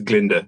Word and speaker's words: Glinda: um what's her name she says it's Glinda the gut is silent yeah I like that